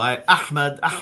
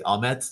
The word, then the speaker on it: Ahmad: So Ahmad is the proper Arabic pronunciation. But I also, I lived in the Netherlands for a long time. They say Ahmad there, Ahmad. That's fine. Even with the Turks, what do they say? Ahmet, that's fine as well.